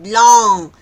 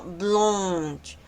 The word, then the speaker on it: blanche: Así, blonch. Ahí también se respeta el sonido de esa on que está ahí. No es blong, sino blunch.